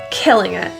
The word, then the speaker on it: killing it: The T in this phrase is generally pronounced as a glottal T. It's stopped in your throat. Instead of releasing it.